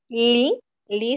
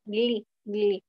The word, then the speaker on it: gli: Este es un sonido nasal. Va a depender también de qué parte de Italia. Algunos lo pronuncian como li, li, solamente li. Otros pronuncian igual, tal como lo ves, gli, pero es sonido nasal, gli, gli.